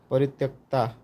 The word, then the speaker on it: परित्यक्ता: परित्यक्तता, परित्यक्ता, sorry 2-3 बार इसका उच्चारण गलत होगा, परित्यक्ता।